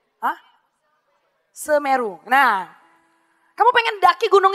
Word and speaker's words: Semeru: Gimana sih cara bacanya? Hah? Semeru.